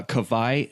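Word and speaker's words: Kawai: what's his name uh kavai strong washburn okay but kavaya is spelled k-a-w-a-i so of course we're from hawaii yeah the hawaiian w is pronounced like a v like a german w basically well that's fantastic i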